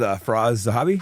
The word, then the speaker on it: Firas Zahabi: Here with Firas Zahabi.